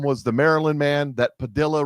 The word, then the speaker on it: Padilla: We sent a couple airplanes down to El Salvador full of illegals and one of them was the Maryland man that Padilla rhymes with armadillo went down and had